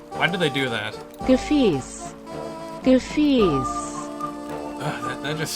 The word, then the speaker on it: Gefäß: Gefäß. Gefäß! I always forget that letter that looks like a capital B is actually an S sound. Gefäß.